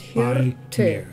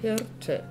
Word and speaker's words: Hirte: Und Hirte. That's has two syllables. Hirte.